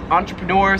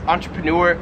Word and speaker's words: entrepreneur: 43 is entrepreneur. So I've always pronounced this entrepreneur. In Australia, they pronounce this entrepreneur. So like entrepreneur.